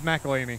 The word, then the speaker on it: McElhenney: It's McElhaney.